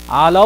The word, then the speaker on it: Allah: sound on lamb but the moment you say Allah law what kind of lamb do we have here now heavy so the pronunciation comes out from a full map Allah like when you say Allah your mouth is getting full when you say Finland